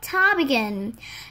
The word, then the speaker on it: ptarmigan: The state of Alaska is the willow ptarmigan. The willow ptarmigan. The P in the ptarmigan is silent, isn't it?